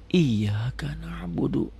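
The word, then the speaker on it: إِيَّاكَ نَعْبُدُ: minta pertolongan tapi tidak diucapkan gitu loh jadi bacanya iyaka na'budu wa iyyaka nastain ihdinatal mustaqim kita sudah tahu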